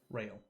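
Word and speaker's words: Rael: Orchard Barkeep's name is Rail. Railgun chime. Like, I was in like a rail. That's how you spell it. R-A-E-L. Like you're about to get railed. okay.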